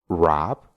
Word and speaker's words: wrap: octavo truco es que cuando tenemos una palabra que empieza con una W y después tiene una r solo Vamos a pronunciar la r y no vamos a pronunciar la W por ejemplo write que